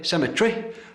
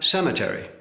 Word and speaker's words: cemetery: Where the English say cemetery, the Americans have cemetery. English laboratory, American laboratory.